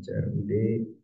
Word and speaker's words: CRUD: buat satu folder namanya crud crut gitu ya bacanya crud nah isinya ee lumayan banyak ini karena saya ini juga ngambil dari eh skpnya orang ya ini ada crud SQL kalau yang teman-teman